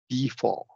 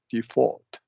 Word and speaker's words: default: Default or default. That's exactly right. Yeah. Verb Okay. with a schwa, noun with a long e.